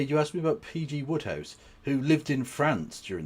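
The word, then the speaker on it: Wodehouse: By the way, it's pretty it's spelled W O D E House. But regardless, um yeah, you asked me about PG Woodhouse, who lived in France during the war, didn't he?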